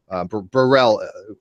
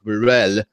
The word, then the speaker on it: Borel: called Steve McRae and Borel's law. Borel, actually it's French. It's Borel. It took me a long time to figure that out, but it's Borel if you speak French, which I don't, and I butchered that.